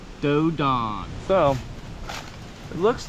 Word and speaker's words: Dos d'Ane: It's pronounced Dodon.